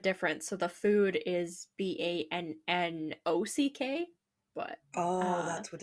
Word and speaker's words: Bannack: So the first one I have is Bannock, Montana. Oh, it's in So Montana. Okay. yeah, it's spelled Bannack, but it's like Bannock, the like First Nations or Indigenous like bread kind of biscuit Right.